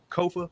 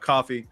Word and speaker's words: Kofa: I am your host, Kofa, K-O-F-A, not coffee, not Kufu, not Kofi, or any variation thereof.